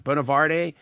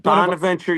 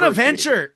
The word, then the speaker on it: Bonaventure: I always say it wrong. Bonavarte, St. Bonav Bonaventure University, Bonaventure. the Bonnies.